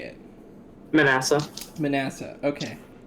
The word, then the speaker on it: Manasseh: do you say it manasseh manasseh okay so it's like the second manassas but vanessa gotcha yeah okay i've